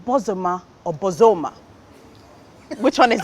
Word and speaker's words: Bozoma: the western region is bosuma yeah but the anglicized version because i don't want people to mess it up is just bozeman the long o two syllables right don't mess it